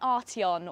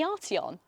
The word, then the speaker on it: Arteon: And you might think that I would have picked something really fast or really expensive, like an Arteon or perhaps a Golf R.